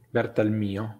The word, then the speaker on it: Bertalmio: Grande Jacopo, ricordiamo che l'accento sul suo cognome cade sulla I. Bertalmio.